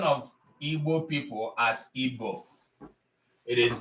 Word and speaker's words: Igbo: We are not Igbo, we are Igbo. That's who we are. The sound we is an Igbo sound.